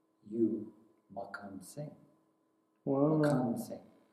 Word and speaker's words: Makhan Singh: Makhan Singh is how he pronounced it.